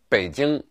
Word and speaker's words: Beijing: popularized many years ago the city's name is pronounced Beijing and it should be spelled in English with